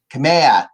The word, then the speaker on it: Kamea: entertaining to that cameo i can never say her name right i'm sorry kamea thank you jessica there diva name